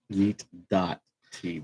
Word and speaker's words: Yeet TV: we don't do the dot. We just say Yeet.